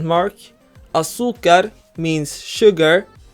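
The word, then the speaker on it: azúcar: be an accent mark Asuka means sugar Asuka ends with the letter R meaning the stress should be on the last syllable but in reality we stress the second to last syllable we therefore add an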